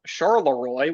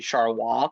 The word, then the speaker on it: Charleroi: We have Charleroi, which is actually Charleroi.